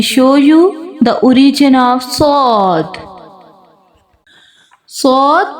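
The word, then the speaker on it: ص: Let me show you the origin of sod. Sod pronounced as tip of the tongue comes between the front top and bottom teeth.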